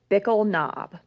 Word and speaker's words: Bickle Knob: the area beginning with Bickle knob like pickle spelled with a B pickle knob is a